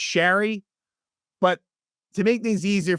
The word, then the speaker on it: Sheary: for me to say Sheary. That seems like what the announcers are saying. I know Connor Sheary had, made the correction that it should be pronounced Sherry.